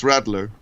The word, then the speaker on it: Radler: So in German it's Das Radler. And it would be it'd be German and not English. Das Rattler.